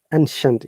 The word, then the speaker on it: ancient: originating from an ancient is it ancient or ancient way to find out in a moment ancient ancient ancient yeah this is a schwa sensor ancient long time